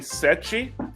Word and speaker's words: Seth: Seth, right? Yep, I am Seth. Nice. You can call me Sechi, Seth. because that's the way many people pronounce my name in Portuguese.